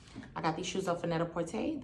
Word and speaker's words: Net-a-Porter: got these shoes off vanetta porte that's how they pronounce it when i call customer service like when i make